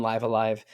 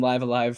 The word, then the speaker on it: Live A Live: I always thought it was live because it's like you're you're living seven different lives.